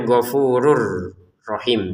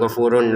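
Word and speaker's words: غفور رحيم: Di depannya ada ro, kita masukin tanwinnya ke ro sehingga cara bacanya ghafurur rahim ya. Ghafurur bukan ghafurun lagi. Dan tanpa dengungan. Jadi jangan ghafurur rahim. Nah, itu kan dengan dengungan dan itu salah ya.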